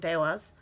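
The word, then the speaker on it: Devas: The Dewas of Creation, and that is apparently how it is pronounced, according to the book, Dewas.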